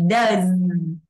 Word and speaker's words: does: Vậy cái chữ do này chúng ta phải đọc là z, nhưng mà nó biến âm thì các bạn phải đọc là does.